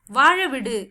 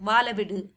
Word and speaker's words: வாழ விடு: இல்ல या என்ன मुझे वाழ विடு, यहाँ पे ल की जगह पे र साउंड आती है अलग से, ठीक है। वो प्रोनाउंसिएशन आपको नहीं आ रही है तो ल यूज कर सकते हैं।